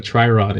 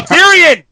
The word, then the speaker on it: Tyrion: I'm sorry that I don't know what a Triron is, but it's Tyrion.